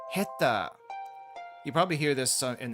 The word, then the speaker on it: 下手: However, in this case, we have heta. Heta. Though the pronunciation for the hand portion can change depending on the context. Again, in this case, it's pronounced ta instead of te, the usual pronunciation for it.